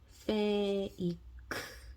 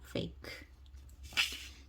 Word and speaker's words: fake: 그래서 이 E의 존재는 앞에 있는 글자가 자기 소리가 나게 만들어주는 존재입니다. 그래서 요 F는 한국말로 피읍. 그래서 이 글자는 fake 이렇게 발음을 하면 됩니다. fake.